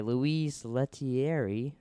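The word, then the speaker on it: Louis Leterrier: It came out in 2008, directed by Louise Leterrier. I believe is how you say their name.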